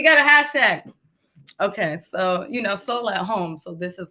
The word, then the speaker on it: Sol: soul at home experience, I will call it soul, but it is spelled SOL or /SO. I'll write it out for you guys. It's a play on soul and soul.